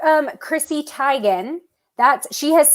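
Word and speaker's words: Teigen: who you're talking about you say Chrissy Tegan but she says it's Chrissy tigan the name is pronounced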